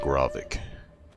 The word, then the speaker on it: Grovik: I need to remember that's pronounced Grovik.